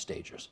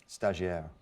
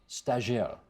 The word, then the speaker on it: stagiaire: Food, now it says stagers, but I know it's not pronounced stagers. How do you say it? Stagiaire. Stagiaire.